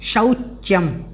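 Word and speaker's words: शौच्यम्: तो हमें ध्यान रखना है शौच्यम, शौच्यम जो है इसको ठीक तरीके से बोलना है। फिर कार्पण्यम, कार्पण्यम इस प्रकार से इसको बोलना है।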